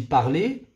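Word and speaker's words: parlé: ER, leur participe passé, ils se prononcent de la même façon. On dit parler, participe passé, et on dit parler, le verbe à l'infinitif. Vous voyez, c'est la même chose. Parler, parler.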